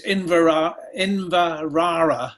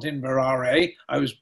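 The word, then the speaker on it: Inveraray: Well, the halfway point charge was Inverara, I'm told it's pronounced, not Inverare.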